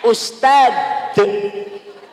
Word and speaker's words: ustadz: Bacanya ustaz ada denya.